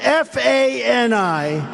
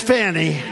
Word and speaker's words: Fani: Now, even though I believe it's spelled F-A-N-I, to my way of thinking, that's Fanny. But once she became the district attorney, I think she put a little emphasis on the U. Fani.